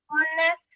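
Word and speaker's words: honesty: word is आई एम ऑनेस्ट तो इसको एक ध्यान रखिए बेटा एच ओ एन ई एस टी वाई ऑनेस्टी है अ है अ हां नहीं है वो ठीक है ऑनेस्टी हां चलिए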